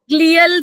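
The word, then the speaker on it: glial: कैसे करना hell sales गलाल ग्लियल cells भी कुछ लोग कह देते गलाल सेल्स बोल दो कोई जी एल आई ए एल यस sir spelling लिखा मैंने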